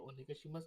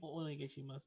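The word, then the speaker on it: お願いします: when you break it, don't double the O sound. Mm. That's the Mm. thing. People will accidentally double up the O, so it's not like when you O negashimasu, you will hear the like a lagging O of the.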